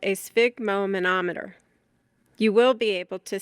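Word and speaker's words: sphygmomanometer: Spig, which rhymes with fig, relates to blood. broken into its parts. It is spig mo manometer.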